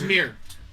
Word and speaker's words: Ymir: Y is silent. For mirror. It's YMIR. Yeah, that's your mirror. Well, a little different spelling. In Norse Is that your mythology, character's that's how you spell it. But it's, yeah, Y-M-I-R. but it's mirror.